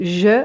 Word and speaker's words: je: pas, on va dire je sais pas. Et comme je vous ai expliqué précédemment, on ne prononce pas le E de je, donc on va dire je sais pas, je ne suis pas, je suis pas dispo samedi.